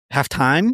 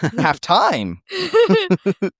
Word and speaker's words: halftime: I hated how she pronounced it like that. Halftime? Yeah, she put the emphasis on the time. Yeah. Halftime.